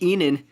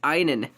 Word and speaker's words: einen: been I nin einen see that's not like Enon that's einen einen we're studying German in